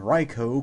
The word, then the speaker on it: Raikou: people I know who can actually pronounce the Pokemon name ryko correctly so that's cool uh